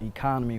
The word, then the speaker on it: Ekanem: always tell people it's you can just pronounce it economy without the why in high school you